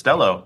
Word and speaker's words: Stelo: Is it pronounced Stelo like hello? It is Stelo.